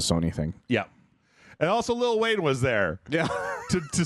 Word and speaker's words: Lil Wayne: I keep pronouncing the T's in little. It is Little Wayne. Little William. Lil Wayne. Lil Wayne.